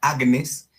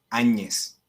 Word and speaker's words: Agnes: Se escribe Santa Agnes, pero se pronuncia Santa Áñez.